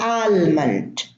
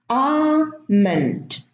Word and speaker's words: almond: Now, many people say salmon or almond. No, it's salmon. The L is silent. Almond, almond. The L is silent.